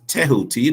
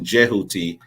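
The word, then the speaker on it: Djehuti: image here we go here's jti sometimes described as touti depends on where you where you're from I think now um I think that the the that the pronunciation jeti is more accurate than tahuti but um being someone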